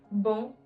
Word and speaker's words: bon: For example, a lot of times students end up pronouncing it as bon instead of bon. Nasal sound, bon.